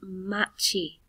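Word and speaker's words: 町: the word for city or town it is pronounced machi machi means city so if you were talking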